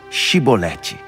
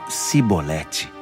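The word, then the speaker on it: Shibboleth: não então eles pediam diga shiboleth mas ele sempre falavam cebolete porque não conseguiam pronunciar corretamente então eles agarravam o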